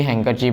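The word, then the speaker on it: handkerchief: लिए यूज करते हैं, उसी को हैंकी को ही हैंकरचीफ बोलते हैं। तो इसमें भी डी का प्रोनाउंसिएशन नहीं होता है।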